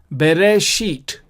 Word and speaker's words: Bereshit: And so the whole word then becomes Bereshit. Bereshit. Bereshit.